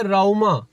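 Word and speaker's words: Rauma: अब अच्छा एक को फिर मैंने बोला कि मैंने फिर ना ट वो मैप पे दिखाया फिर वो उसने अपनी प्रोनाउंसिएशन में कहा कि राऊमा ओके राऊमा वो अब वो इतना बड़ा फर्क नहीं है बट उनको समझने में वो प्रॉब्लम हो रही है।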